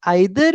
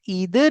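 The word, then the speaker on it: either: आई जो होता है वो ब्रिटिश होता है। जैसे अगर आप बोलते हैं आइदर इज फाइन यह भी करेक्ट है। अगर आप बोलते हैं ईदर इज़ फाइन सॉरी। ठीक है? तो ये अमेरिकन प्रोनंसिएशन के अंदर आता है। यानी दोनों करेक्ट है। बिल्कुल दोनों करेक्ट है। ये वाला ब्रिटिश और ये वाला अमेरिकन।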